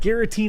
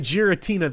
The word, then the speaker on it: Giratina: and run no because I said gutina instead of Giratina the people last time